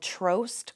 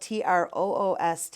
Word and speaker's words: Trost: day they are called trost coffee and tea it is spelled TR o OST it rhymes with roast I learned that a